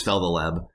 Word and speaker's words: Feltheleb: I've come to really enjoy Feltheleb, and it's not like Fel and then the Leb, like it's like three separate like strange words put together. Oh, that's how it's pronounced, is Feltheleb.